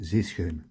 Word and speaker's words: zeeschuim: correcte pour le mot zeeschem. Donc, zé, bon, c'est pas compliqué, hein, c'est comme un, si on disait en français zé, voilà.